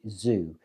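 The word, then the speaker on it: Zhu: to when I found the channel from Tony Zoo uh that's spelled z h u I'll put the link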